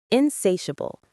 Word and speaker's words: insatiable: Insatiable is pronounced insatable. Insatiable stress on the second syllable.